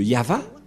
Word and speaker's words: Yahvah: le nom de de yava et la prononciation de y h V selon les hébreeux c'est yava et personne ne peut le contester car ce sont le